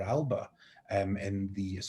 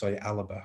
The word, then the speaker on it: Alba: of drawn over to vote for Alba, Alaba, I should pronounce it Gaelic correctly, who do sort of,